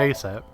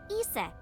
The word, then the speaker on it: Isis: just dancing so about asap horace's mom is named isis but in ancient egyptian it's pronounced closer to isa or asa hmm how do i